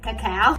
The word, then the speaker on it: cacao: chocolate flavor keeping a not coco cacao people always think i'm saying it wrong but no it is cacao adding one date and